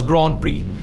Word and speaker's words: Grand Prix: known as the French Grand PRI of Grand Pricks of France why the name seem like it should be pronounced prick in French it's actually in there all up it's actually pronounce Grand Prix which literally means great prize the tradition of